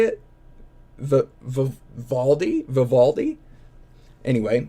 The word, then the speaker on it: Vivaldi: say this one, but I'm just going to spell it out. V I think it's Vivatti. Is that how you say it? Valdi, Vivaldi.